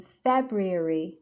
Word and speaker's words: February: In February, again, first syllable.